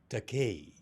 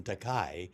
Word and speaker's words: Takei: with you uh incidentally my surname is pronounced takei i have no objection to the mispronunciation takai because that's a japanese word that translates into english as expensive oh so i'd be